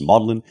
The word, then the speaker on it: Magdalene: he's teaching here at madlyn which is my Oxford College that's where I did my degree in Oxford it spelled Magdalene but it's pronounced maudlin and you know Oxford